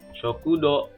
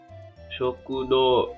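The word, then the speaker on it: 食堂: lebih nah ini ya tua condemned Gowa ini dibacanya yang tadinya rokudo hai sokudo cek panjang ya sokudo suku Do ini Hai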